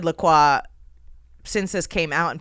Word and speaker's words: La Croix: people are like, "It's Lacroy." And I'm like, sure, that's the Americanized pronunciation of this, but that's not how you would pronounce it. It's clearly a French word.